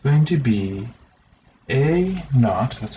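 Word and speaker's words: A₀: It's going to be A naught-- that's how you pronounce that.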